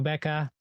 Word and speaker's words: Bekah: um you can just search for me it's Becca and it's spelled be e kah you you can find